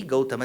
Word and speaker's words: Gautama: Why does he say Gautama? Why can't he say Gautam? Gautam is a cricketer. Gautama is the Maharishi, because in Sanskritam, the last aksharam has to be given full pronunciation. Whereas in Hindi, you can subsume that sound.